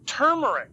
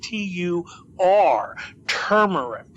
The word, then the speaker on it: turmeric: lot you can do turmeric now we know turmeric um and it's not turmeric everybody pronounces it turmeric but it's Tu turmeric and um that's got